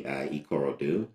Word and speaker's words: Ikorodu: So I'm happy to hear you say that I at least pronounce my hometown properly, Ikorodu.